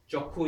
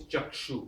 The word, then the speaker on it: chakshu: Chakhu is chakshu in Sanskrit. Chakshu. But the ksha is chakhu. Lokhinarayan.